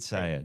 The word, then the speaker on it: Syed: Syed? What's the right way to say your name? Yeah, I think we've been on a few calls together and Just a few. Yeah, Not many. it's Syed. Syed.